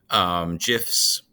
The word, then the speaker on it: GIF: GIFs, because that's the proper way you pronounce it, is GIF, not GIF.